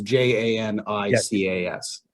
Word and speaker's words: Janicas: Starts with a J. Yeah, Janica, yes. I may not have the pronunciation correct, but it's Janicas. That's correct.